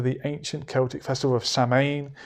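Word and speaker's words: Samhain: date back to the ancient celtic festival of saman pronounced so we oh so in have i been oh i'm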